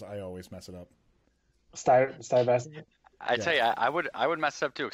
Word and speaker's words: Stuyvesant: I'm glad we got the person from New York to pronounce the team name, because I always mess it up. Stuyvesant.